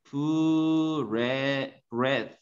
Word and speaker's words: breath: 얘는 발음이 breathe예요. 동사예요. 숨쉬다. 얘는 발음이 breath.